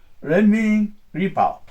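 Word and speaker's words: 人民日报: It said that the Chinese communist paper, Jinmin Nippo in Japanese, Renmin Ripao. This is the Chinese pronunciation.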